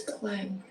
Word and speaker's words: climb: So B is a silent letter.